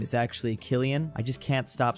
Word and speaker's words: Cillian: went above and beyond people having a meltdown about Cillian Murphy's name being pronounced Killian not Cillian look I did it right